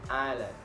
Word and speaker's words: island: The letter S can also be silent. For example, island, debris, and isle.